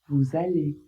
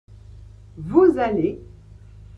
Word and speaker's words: vous allez: Vous allez vous allez. Même chose, il commence aussi par un a, une voyelle. Donc là aussi, vous devez faire la liaison et prononcer le S comme un Z.